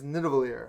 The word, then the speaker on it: Nidavellir: number 6 for me is Nidavellir, which is Hey, you pronounced it right. I hope I did. Nidavellir.